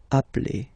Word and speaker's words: appelle: So when you get this a vowel and then you get a double consonant, and well, they are the same, then it does change the pronunciation of a. You tend to pronounce it like really open. That's the reason why you pronounce it appel, okay?